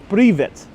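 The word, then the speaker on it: привет: It's pronounced privet.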